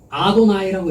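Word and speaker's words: אדני: 거기는 아도나이라고 읽어요.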